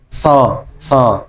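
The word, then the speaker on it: ص: Jadi kalau so memang dinaikkan biar memang berbeda nantinya. Pengucapannya biar beda dengan huruf sin.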